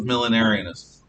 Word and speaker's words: millenarianism: to you the word is militarianism millionaires militarism it's spelled m i l l e n a r i a n i s m millenarianism m i l l e i'm going